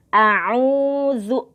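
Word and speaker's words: أعوذ: A'udzu. Nah, itu dibaca 2 harokat panjang.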